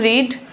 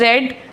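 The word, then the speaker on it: read: अब spelling same है, pronunciation different है। Verb 1 इज रीड, verb 2 इज रेड and verb 3 इज रीड।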